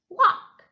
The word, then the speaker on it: walk: Walk, walk. The L is silent.